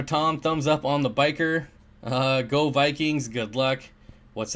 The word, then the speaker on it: bichir: In other news, back to the title, I am actually thinking about getting Victorians again and some bikers. And yes, I pronounce it biker.